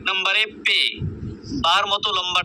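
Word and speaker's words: پ: পে, 1 নম্বরে পে, বার মতো লম্বা টান, নিচে 3 নুক্তা, এটার নাম হচ্ছে পে, আমরা বারবার উচ্চারণ করব পে।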